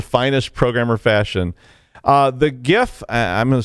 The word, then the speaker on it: GIF: invented the gif and insisted that it be pronounced jif like the peanut butter will height when anyone